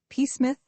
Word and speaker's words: Psmith: Pith. The P is silent.